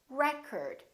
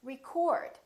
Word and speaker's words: record: another word this word if it's a noun it's pronounced as record the first syllable is stressed recurred this o changes